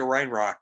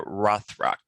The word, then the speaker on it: Rothrock: yeah she she kind of had a cynthia reinrock uh uh cynthia rothrock rothrock yeah i always pronounced her name wrong but um i i